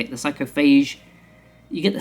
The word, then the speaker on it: Psychophage: That is how you say it, the Psychophage.